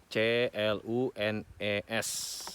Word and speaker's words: Clunes: Clune ini spellingnya ngejanya adalah C-L-U-N-E-S, ya bacanya Clunes.